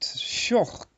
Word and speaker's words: Schoch: And you pronounce his name correctly, as it would have been in Dutch. But yeah. He just calls himself Schoch. Oh, okay. Okay, but actually you're correct. That's how it should be pronounced.